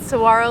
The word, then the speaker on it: saguaro: even know so anyway don't pronounce the g we're really sorry to